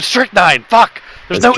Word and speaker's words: strychnine: So quick interjection about strychnine.